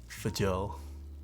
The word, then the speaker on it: Fjell: Fjell.